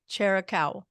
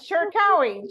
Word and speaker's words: Cherkaoui: Mona Lou Cherkaoui. Excellent. Oh my God. Excellent. Cherkaoui, just like it is. Yes. Thank you. Anyway, I'm so glad to have Mona Lou Cherkaoui, the founder of Mona Lou International and Global Women of Impact.